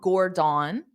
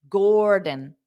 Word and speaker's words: Gordon: So it's not Gordon. That's not how you say his name. It's Dada. Gordon, Gordon, Gordon, Gordon, Gordon. That is the stress, the rhythm of the English language.